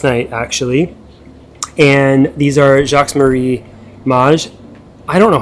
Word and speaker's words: Jacques Marie Mage: Okay, so it's Jacques Marie Mage. Jacques Marie Mage. That's the Google pronunciation. M-A-Y-J is the enunciation. So that would be Mage, right?